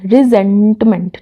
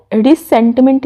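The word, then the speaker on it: resentment: रिजेंटमेंट, ठीक है, रिसेंटमेंट नहीं, इसे प्रोनाउंस करना है, रिजेंटमेंट है।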